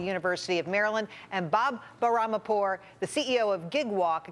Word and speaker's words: Bahramipour: Here to weigh in, Peter Morici, economics professor at the University of Maryland, and Bob Bahramipour, the CEO of Gigwalk, a company helping businesses hire temporary workers.